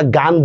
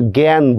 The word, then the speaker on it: জ্ঞান: গ্যা, যেমন বিজ্ঞান, আমরা গান বলি না, আমরা কিন্তু জ্ঞান বলি।